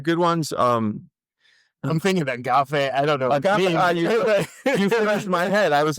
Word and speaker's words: agape: who was it Justin Agape a had like like a bunch of different kinds of so AG g a p e a g but you pronounce it agape and then Diana Donna